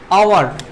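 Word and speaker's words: hour: আওয়ার উচ্চারণে, আবার বলছে আওয়ার উচ্চারণে এখানে কিসের উচ্চারণ হচ্ছে, ভাওয়েলের উচ্চারণ হচ্ছে, ভাওয়েলের সাউন্ড হচ্ছে।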